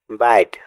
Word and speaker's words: bite: এখানে যদি silent letter ই না থাকতো তাহলে বিট উচ্চারণ হয়ে যেত।